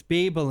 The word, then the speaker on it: Bibel: The Bibel. Is that how you pronounce it? I always thought it was Bible. It's Bibel in German.